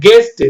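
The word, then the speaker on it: guest: ஏ ஆர் ஏ N guarantee guarantee இது பாருங்க கெஸ்ட் ஜி இஸ் டி மாதிரிதான் படிக்கணும் ஆனா யூ போடணும்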